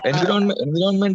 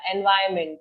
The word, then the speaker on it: environment: Many of the letters are sort of silent in that word.